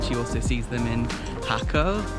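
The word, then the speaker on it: Jacó: also sees them in Hako, also like it's spelled like Jacko, and that they are in almond trees, which they are because they love eating almonds.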